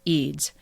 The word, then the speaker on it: Eds: is spelled Ed DS it looks like EDS but it's actually pronounced eids so I've just gotten